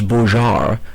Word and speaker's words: Bogart: He was born and raised in the States, and though he'd been known as Thomas Bogart, in French the G is pronounced like a J, for over 10 years,